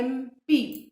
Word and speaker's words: MP: यहाँ पे अगर हम MP को प्रोनाउंस करेंगे तो दो दी spelling it begins with M, which is a consonant, but sound किसका आ रहा है? MP. पहले ए का साउंड आता है, बाद में म का साउंड आता है.